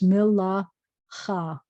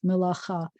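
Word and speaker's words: מְלָאכָה: It kind of makes this a longer ah. So it's milacha. And there's our chaf, milacha.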